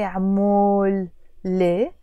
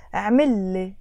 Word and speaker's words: عملي: Because when we add the لي, which means for me, I'm not going to say عمول لي. The pronunciation changes simply and it becomes عملي, do me.